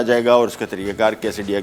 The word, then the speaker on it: quesadilla: और उसमें एक डिश आती है कैसेडिया। कैसेडिला भी लिखा जाता है इसको, लेकिन प्रोनाउंस को कैसेडिया किया जाता है।